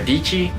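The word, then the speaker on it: Dietschy: that creative life with Sara deechi rhymes with peachy the sunny show with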